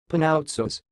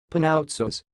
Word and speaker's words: Panoutsos: the word you see it sounds like pan out shows pan out source and now slower pnau